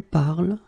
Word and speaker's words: parles: you listen to me, I will pronounce it je parle, tu parles, il parle, elle parle. So it does mean that even if you write them differently, E, ES, and then ENT, you will pronounce them the same way.